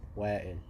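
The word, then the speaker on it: Wael: to Wa'il, he said to me, did I pronounce that correctly? Yeah. Wa'il? Okay. Wa'il. Wa'il.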